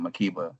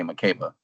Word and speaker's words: Makeba: We pronounce it Makeba. Some of you may say Makeba.